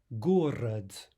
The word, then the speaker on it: город: Город, город. Remember consonant devoicing. We'll be treating that in more detail here in a moment, but that final de should be pronounced here like a te, like a t.